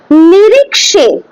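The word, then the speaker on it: निरीक्षे: নিরিক্ষে, খ হয় না, নিরিক্ষে, ঠিক আছে, মানে এন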